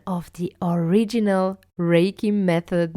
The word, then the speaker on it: Reiki: Reiki and not Raiki or Raiki.